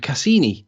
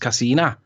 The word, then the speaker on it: Cassini: Christian Huygens and Cassini, who you pronounced Cassina.